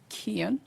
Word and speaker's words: Kean: just said it was introduced by Senator M Kean I'm told it's pronounced and our own Senator Bob Smith um